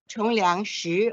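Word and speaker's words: Shih Chung-liang: In Chinese, it's pronounced as Chongliang Shi or Shi Chongliang.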